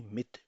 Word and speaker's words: mit: तो एक प्रेपोजिशन है मिथ, pronounce with me मिथ.